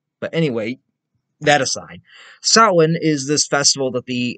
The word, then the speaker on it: Samhain: had to look it up and apparently you pronounce it as saowin but anyway that aside sawin is this festival that the ancient celts would